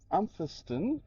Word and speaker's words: Umpherston: Today we're going to plog the Umpherston sinkhole. That's how you pronounce it.